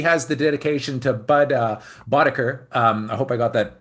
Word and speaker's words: Boetticher: The correct pronunciation is Boetticher.